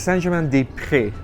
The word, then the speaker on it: Saint-Germain-des-Prés: I'm going to pronounce that correctly. It was close. It's Saint-Germain-des-Prés of the prairies, Saint-Germain of the Prairies is the Okay, name.